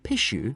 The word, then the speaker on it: pishu: The word pishu, for example, is pronounced very like a sneeze.